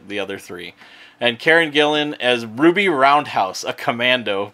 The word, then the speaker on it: Gillan: the glory that is Karen Gillian Gillan I've never pronounced your name right Marc Evan Jackson is